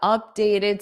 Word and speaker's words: updated: So this T in updated is going to be a soft D. Updated. Dated. Dated. Dated. Updated. So it will sound like up dayed.